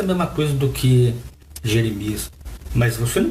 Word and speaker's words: Jeremias: Assim falamos Jeremias e não Ieremiahu, que era o nome dele em hebraico.